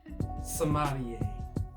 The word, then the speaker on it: sommelier: And eventually his dad came around and actually helped him become a sommelier.